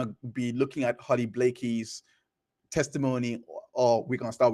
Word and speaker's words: Blakey: that I spell it but I did spell name wrong but it's Blakey so for those that are joining us right